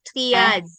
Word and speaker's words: triage: Ini dibacanya triage. Triage. Oh, triage. He eh, itu triage.